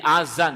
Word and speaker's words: Adzan: Jadi, huruf terakhir dari Adzan adalah 'nun'. Biasanya diucapkan sebagai 'asamm'. Jika itu 'asamm', maka artinya akan berubah . Ya. Ini bukan 'asamm', tetapi 'nun' di bagian akhir. Jadi, Adzan, dengan ' nun' sebagai huruf terakhir.